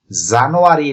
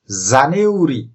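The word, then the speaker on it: January: তাহলে জেই, এই, এন, ইউ, এই আর ওয়াই এটির উচ্চারণ জানুয়ারি না, এটির উচ্চারণ জানিউরি।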